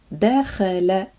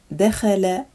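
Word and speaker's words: دخل: This is dakhala, dakhala, and it means to enter.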